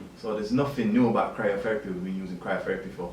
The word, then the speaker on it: cryotherapy: How would you pronounce it again? So it's cryotherapy, C-R-Y-O therapy, so cryotherapy.